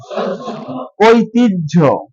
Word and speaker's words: ঐতিহ্য: জ ফলা এই সম্পূর্ণ হ জ ফলা এর বিপরীতে বর্গীয় জ এবং ঝ এর উচ্চারণ হবে তাহলে এটার উচ্চারণ হবে সহ্য কি হবে বলেন ঐতিহ্য ঐতিহ্য যখন শিক্ষার্থী এই